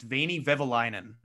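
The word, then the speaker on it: Veini Vehviläinen: record and say i believe the name is pronounced veiny vivilinen there's a lot of visa well done it's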